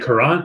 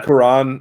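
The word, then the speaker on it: Kiran: how I pronounce it is it kurran no it's not kurran yeah Quran a me is it really Quran yeah that's what that's the pronunciation I heard Karan M I love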